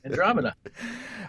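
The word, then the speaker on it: Andromeada: Andromeda. It's spelled MEADA, but it's beautiful.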